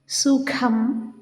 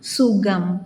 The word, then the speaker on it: സുഖം: സുഖം, മുഖം, നഖം, ഖാദി, അഖിലം, ഖരം എന്ന് ശരിയായി ഉച്ചരിക്കുന്നതിന് പകരം നാം സുഖം, മുഖം, നഖം, ഖാദി, അഖിലം, ഖരം എന്നിങ്ങനെ തെറ്റായി ഉച്ചരിക്കുന്നതൊന്ന് ശ്രദ്ധിക്കണേ എന്നാണ് പറയുന്നത്.